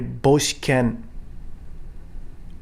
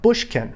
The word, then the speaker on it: boshiken: in Uechi Ryu, is called a boshiken. Boshiken, not bushken. That's very commonly mispronounced. Bushken, it's not. It's boshiken with an O. Boshiken.